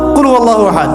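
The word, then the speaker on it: قل هو الله أحد: আল্লাহু আহাদ মানে কি এটা উচ্চারণই বা কেমন করে করতে হয় কুল বলুন হু আল্লাহু আহাদ তিনি আল্লাহ এক এই যে কুলহু আল্লাহু আহাদ অনেকেই বলতে পারে না কুলহু আল্লাহু কুলহু আল্লাহু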